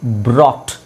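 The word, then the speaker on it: brought: ಟಿ ಬಾಟ್ ಇದರ ಪಕ್ಕದಲ್ಲಿ ಒಂದು ಆರ್ ಹಾಕಿದ್ರೆ ಬಿ ಉಚ್ಚಾರಣೆ ಬ ಆರ್ ಉಚ್ಚಾರಣೆ ರ ಓ ಉಚ್ಚಾರಣೆ ಅ ಬ್ರಾ ಬ್ರಾ ಯುಜಿ H silent to ಅಕ್ಷರಗಳಎಷ್ಟುಬಿ ಆರ್ ಓ ಟಿ ಮಧ್ಯದಲ್ಲಿರೋದು silent so ಬ್ರಾಟ್ ಸ ಆಟ್ ಬಾಟ್ ಬ್ರಾಟ್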